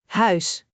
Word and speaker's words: huis: Huis. H ui S. Huis. Try to shape your mouth like you're saying au in English, but stretch the sound differently.